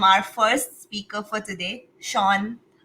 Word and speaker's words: Zseano: I'm so happy to welcome our first speaker for today, Zseano. Please tell me I pronounced it correctly. Yeah, you did. Yeah, Zseano, that's the name.